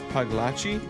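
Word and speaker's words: Pagliacci: Double C in Italian is pronounced cha. Oh, wait. So, it's it's Paglachi.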